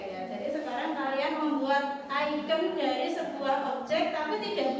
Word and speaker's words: ikon: Icon, bacanya icon, tulisannya ikon tapi icon.